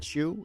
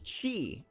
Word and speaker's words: Qu: say the name i is it chew is it q is it is it it's she it's she i've been saying it wrong this entire time g there we go